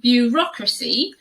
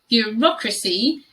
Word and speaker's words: bureaucracy: dress is ridiculous ridiculous this word is really quite tricky to pronounce it is bureaucracy bureaucracy in particular there that first sound is really hard to to say the blend of the sound yeah you rock c